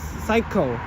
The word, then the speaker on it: psycho: Psycho yeah, this is Psycho. That is just the S is silent.